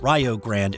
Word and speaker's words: Rio Grande: Newt Oliver took the job to coach tiny Rio Grande, located in southwestern Ohio. And just a note here, it is pronounced Rio. It's Rio Grande in Texas, Rio Grande in Ohio.